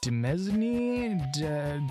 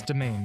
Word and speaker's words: demesne: Demesne? Demands? It's domain. It's fucking domain.